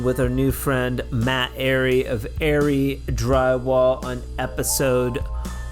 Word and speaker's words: Arey: Matt Ary, heaven forbid I call you Ari. Uh yeah, everybody does. So, it's probably annoying. You're like, "No, my name's Ary. Say it right."